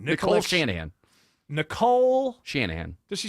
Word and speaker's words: Nicole Shanahan: Nicolia Sharadana. Your vice president, whatever. I don't know how to say it either. What's her name? Nicole Shanahan.